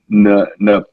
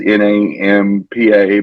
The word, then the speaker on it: Nampa: called Canyon County, in a town called Napampa. I don't know if Mhm. I'm pronouncing it right. It's Nampa, but according to the LGBT Nation News, um, they had the pride.